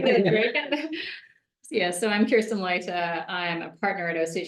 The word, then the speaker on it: Kirsten Leute: Yeah, so I'm Kirsten Leute.